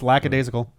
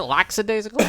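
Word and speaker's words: lackadaisical: that's a word no it's lacad isical yeah laadle okay just means Carefree is it laxidasical no it's lacad I thought it no nope Lac a and then daal as if it was like spell it like lacking a daal spelled as if it was like a daisy of flower I could have SW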